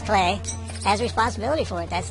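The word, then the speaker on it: Klei: And I think Clay, and that's how you pronounce Clay, is Clay, has responsibility for it.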